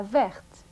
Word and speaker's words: verte: Listen to the difference in pronunciation between le gris, la grise, le vert, la verte. Le petit, la petite. Le grand, la grande.